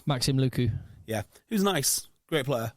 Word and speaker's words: Lucu: thought it is do you say his name luku Maxim lucu yeah who's nice great player well good player